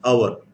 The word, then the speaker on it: hour: we'll go over this what hour now if i want to say okay right h is silent now what time is